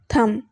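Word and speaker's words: thumb: है इसी तरह से थम इसके भी स्पेलिंग देखें टी एच यू एम बी लेकिन यह बी जो है एंड पे जो आ रहा है ये साइलेंट है इसको हम बोल रहे हैं थम इसी तरह से और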